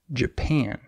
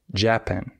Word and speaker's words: Japan: example the country Japan in this word the second syllable is stressed Japan however many English Learners stress the wrong syllable they say japen and that's wrong but it's very easy